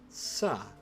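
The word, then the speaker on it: さ: Sa. It is a consonant followed by a vowel and makes up a single syllable. You pronounce this one as sa.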